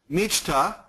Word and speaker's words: мечта: C-H-T-A. C-H-T-A. And Мечта. say Michta. Да. Мечта. Very nice. Okay, say it. Is Michta or Michda?